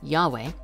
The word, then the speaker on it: Yahweh: Hebrew name of God yodhi vavhe sometimes pronounced Yahweh written vertically produces an